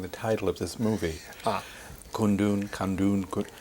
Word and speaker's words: Kundun: Kundun. How do you pronounce it correctly? Kundun. Kundun.